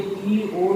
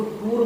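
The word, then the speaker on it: tour: अब आप ये शब्द को देखिए, टी ओ यू आर, इसका उच्चारण होता है टूओ। टूओ का मतलब दौरा होता है, लोग इसको टूर बोल देते हैं। टूर सही प्रोनाउंसिएशन नहीं है, टूर कोई सही प्रोनाउंसिएशन नहीं है। यदि आप सही प्रोनाउंसिएशन की बात करेंगे तो यह टूओ होता है, टूर नहीं होता है।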